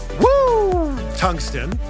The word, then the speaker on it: Woo Tungsten: Actually, it's pronounced Woo Tungsten, because that's the sound you make when you catch a giant fish.